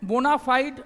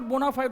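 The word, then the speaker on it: bona fide: ठीक है, इसके बाद और भी बहुत सारी चीज़ें हैं, जैसे हम लोग बोलते हैं बोनाफाइड मालाफाइड, that is नॉट बोनाफाइड और मालाफाइड, बोनाफाइडी मालाफाइडी।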